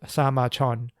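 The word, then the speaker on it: 사마천: In Korean, it's pronounced Sama Chon, which he finished in 94 BCE.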